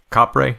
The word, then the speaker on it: Kapre: gonna pronounce it wrong try just capre is that close yeah ka p r e